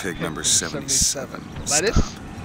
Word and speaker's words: Lutece: Lettuce? Stop. Lutece. Lettuce. It's pronounced lettuce. It's just not spelled that way.